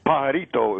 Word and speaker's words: pajarito: what about uh P padrio padrio padrio six years of Spanish seriously I I can't even pronounce one lousy Spanish word I took six years Birdman how do you say it it's pajarito it's called Pito pitoo